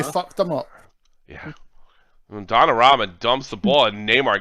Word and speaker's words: Donnarumma: Donnarumma. The pizza pie. Donnarumma. Donnarumma. Say it again. Donnarumma. Donnarumma. Bayern working outside the Like box. Opening these back kicks. That's twice you fucked them up. Yeah. When Donnarumma dumps the ball and Neymar gets in front